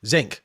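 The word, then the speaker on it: Xenk: Um, how do you pronounce his name, Darcy? Is it Zinc? Zinc.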